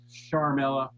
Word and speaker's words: Ciaramella: The Ukraine whistleblower, Eric Ciaramella, properly pronounced Sharmella, was overheard discussing how to take out Trump in 2017 before he even claimed he was a whistleblower.